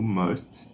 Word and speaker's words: must: E creio que é o último, o must. O verbo must. Bora ver a pronúncia, mas tenho certeza que é must. Bora ver se eu errei. Must. Must. Tem um som mais pro A, né?